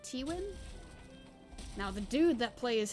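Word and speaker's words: Tywin: I believe it's pronounced like Tiwin.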